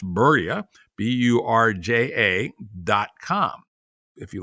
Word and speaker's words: Burja: in pdf form for free at burja but pronounced berya b-u-r-j-a-dot-com if you like what you hear here